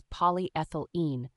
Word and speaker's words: polyethylene: part it's pronounced as polyethylene think of it like saying poly as in many ethyl like the start of ethanol and in like the